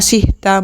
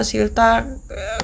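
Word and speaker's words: 싫다: itu kata dasarnya silildta tulisannya s i r h d a bacanya silildta gitu kenapa enggak dibaca sihda Mbak ini dari sananya udah bentuknya kayak gini Udah ini pokoknya ya nurut aja gitu loh kalau silta kayak G tulisannya biarpun ada R ada h-nya ini bacanya pokoknya l silta Oke zta t hilangkan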